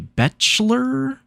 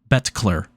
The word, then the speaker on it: Betkler: I think it is pronounced the Betchler? Betkler, he corrected.